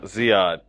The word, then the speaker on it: Ziad: I think it's pronounced Zayed. He's an Algerian drummer. Actually. Kareem Ziad. Yeah, Ziad.